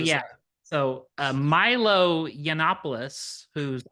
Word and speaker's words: Yiannopoulos: So Milo Yiannopoulos, whose name I'm sure I'm mispronouncing, and It's Yiannopoulos.